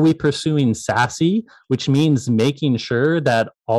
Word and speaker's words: SASE: Sassy is weird, by the way, because until I heard them pronounce it, I just thought it was SAS.